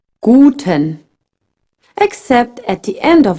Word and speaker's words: Guten: Another thing, in German, the U is pronounced U. A bit like in boot, but shorter. Guten.